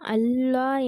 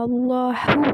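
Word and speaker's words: الله: சரி, அல்லாஹு என்ற வார்த்தையில் உள்ள லாம் தஃகீம் வல்லினமாக அல்லது தர்கீக் மெல்லினமாக உச்சரிக்கப்படும். இப்போ இங்கே என்ன சொல்கிறாங்க அப்படின்னா அல்லாஹோட லாம் இருக்குல்ல, அதை நீங்கள் ஹெவியாகவும் படிக்கலாம், அப்புறம் ஹெவி இல்லாமலும் படிக்கிற மாதிரி இருக்குது அப்படின்னு சொல்லிட்டு சொல்கிறாங்க.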